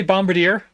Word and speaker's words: Bombardier: Now, say Bombardier. That's how you pronounce it.